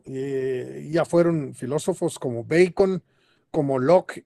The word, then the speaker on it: Bacon: A ver, eh, ¿quién era Francis Pacon? Según tengo entendido, era considerado el padre del empirismo. Bueno, este Bacon, que es es la pronunciación eh correcta, digamos, de este apellido.